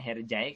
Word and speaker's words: Hercai: sinetron ini hej hej tapi sebenarnya bacanya harjay Karno Sheikh tanpa kalau